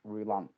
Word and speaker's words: Roulant: Have I said Roulant correct? Yes, it's very well pronounced, Jimmy. From Bravilor to discuss the game-changing FiT machines. Tell me about Philippe Roulant.